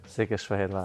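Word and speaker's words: Székesfehérvár: Ich habe aber, irgendwie haben wir mal drüber geredet und ich glaube, das war dieses Şehirşehir. Ja, genau. Falsch gesagt, aber richtig. Wie spricht man es richtig aus? Şehirşehir.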